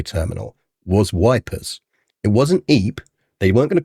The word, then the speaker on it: Ypres: be able to know what this is or pronounce it. But if we call it Wipers, everyone knows what it's about.